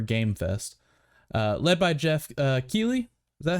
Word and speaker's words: Keighley: Led by Jeff Keighley. Is that how it's pronounced, right? Keighley?